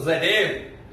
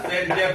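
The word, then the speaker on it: Zaitsev: तो मैं अब इस रिएक्शंस में, यानी कि डिहाइड्रोहैलोजिनेशन रिएक्शंस में आपको ज़डेव यानी कि ज़डेव रूल्स पढ़ाऊंगा। ज़डेव रूल्स जिसको प्रोनाउंसिएट करते हैं, क्या ज़डेव रूल्स या सेटजेफ रूल्स।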